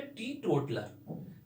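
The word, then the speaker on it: teetotaler: टीटोटलर, टीटोटलर, क्या प्रोनाउंसिएशन है? टीटोटलर। जब आप गूगल में सर्च मारेंगे देखेंगे इसका प्रोनाउंसिएशन टीटोटलर, है ना।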